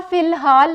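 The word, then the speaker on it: فی الحال: इसी तरह फ़िलहाल है, फ़िलहाल में यहाँ अलिफ की आवाज़ जो है वो नहीं आ रही, लेकिन अगर आपने इमला लिखनी है तो आपने अलिफ भी डालना है।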